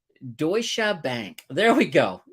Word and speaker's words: Deutsche Bank: had mentioned uh now Wayne says it say Deutsche Bank there we go Deutsche Bank that sounds a lot better than what I